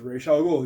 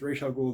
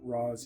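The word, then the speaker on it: Ra's al Ghul: actually created him it's Ral ghoul that is the Arabic pronunciation I don't speak Arabic but it's not Ros it's re um League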